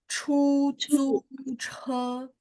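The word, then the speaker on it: 出租车: 路救救车 Oke, kalau C itu ada angin. Jadi bacanya chu, chu, 出租车 Ya, jadi dia angin tengahnya bersih. Satu lagi yang ketiga, huruf ketiga jut juga angin ya. Jadi boleh sekali lagi. Chu, zu, che.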